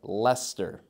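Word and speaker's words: Leicester: on our list uh also similar to Worcester Gloucester here we have Lester you can almost try and imagine l s t r Lester and as close as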